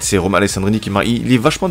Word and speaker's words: Alessandrini: On va le prononcer comme ça s'écrit. On va dire Alessandrini.